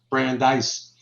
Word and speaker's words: Brandeis: my name wrong so here i have a little brandeis and i have dice at the end that's great so it's